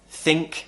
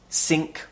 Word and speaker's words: think: But I have many students who pronounce the word this as dis, think as sink or tink.